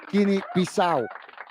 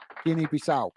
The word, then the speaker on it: Guinea-Bissau: So, Guinea-Bissau. Guinea-Bissau.